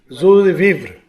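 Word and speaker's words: joie de vivre: Zo de vivre.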